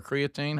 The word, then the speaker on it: creatine: Uh, so what I use is Neutriost creatin or creatine, how you say it?